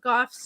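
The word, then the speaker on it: Gough: and then Onsen Labs Steve Goff yeah it's g-o-f-f is how it's pronounced but it smelled g-o-u-g-h it smelled spelled spelled spelled g-o-u-g-h did you get it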